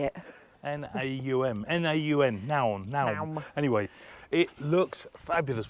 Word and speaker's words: Naum: It's Oh, I'm so glad you pronounced that. I couldn't work out how to say it. N-A-U-M, Naum.